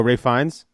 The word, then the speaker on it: Ralph Fiennes: No, you know who I think would make a good Satan is I'm gonna say his name wrong, but Ralph Fiennes. Oh, Ray Fiennes.